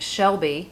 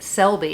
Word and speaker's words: Selby: Last year, a woman named Faith Shelby. Nope. Faith Selby. You know, when like you see the word and you know you're not saying it right, but you still say it the wrong way.